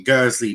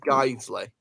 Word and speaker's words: Guiseley: Now, where the fuck is Guernsey playing? I don't know. First of all, it's pronounced Guiseley.